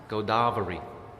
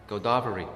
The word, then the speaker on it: Godavari: You have to say the first A is a long A, then I'll understand. Godavari. Godavari.